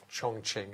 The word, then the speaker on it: Chongqing: yesterday and they have assured me that the pronunciation is fine Chongqing if there are any Chinese people listening who